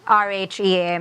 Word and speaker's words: Rhea: Right, my R-H-E-A, mine's pronounced Rhea, but I walked into Ray's Deli and I was like, yo, you're using my name.